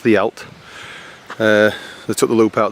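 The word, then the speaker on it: Dduallt: they crossed at Ddaullt, spelt Ddaullt but pronounced Ddaullt.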